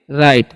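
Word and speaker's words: right: आर आई जी एस टी है तो इसे हम पढ़ेंगे राइट। ठीक है? यहां पर भी जी एच साइलेंट होता है।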